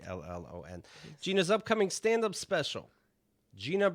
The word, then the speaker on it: Brillon: Gina, you can follow online, Twitter and Instagram at G Brillon, Brillon, of Very course, nicely pronounced. Brillon.